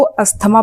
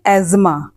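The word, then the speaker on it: asthma: वैसे तो मोस्टली लोग इसको अस्थमा बोलते हैं, लेकिन इसका सही प्रोनाउंसिएशन है एज़मा।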